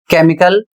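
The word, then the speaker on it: chemical: आया है और इसलिए ग्रीक भाषा से आने के कारण यहां पर क का उच्चारण किया जा रहा है।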